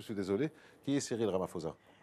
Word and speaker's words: Ramaphosa: voulait, Nelson Mandela, passer la main d'abord à Ramaphosa, à Cyril Ramaphosa, qui était son enfant chéri. On va passer à Ramaphosa, parce que le temps nous presse, je suis désolé. Qui est Cyril Ramaphosa ?